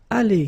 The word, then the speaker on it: allées: So the good news is that phonetically it's aller here. Aller, aller, aller. So it's the same. You don't pronounce this final you don't pronounce this final S here.